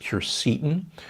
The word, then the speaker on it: quercetin: I'm a big fan of quercetin, sometimes pronounced quercetin.